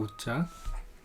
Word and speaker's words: 又: 또 우자. 다시 그려보면 이것이 원래 이런 모양이었다 라는 것을 계속 머리에 두고 계시면서 보시면 될 것 같습니다. 제 발음은 뭐 중국 발음도 이유 이렇게 되는데 우리 발음은 우죠.